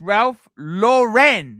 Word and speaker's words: Ralph Lauren: Mac Lobster, $2, pronounced Ralph Lauren. Lauren is boganism. Lauren. It's Ralph Lauren, not Lauren.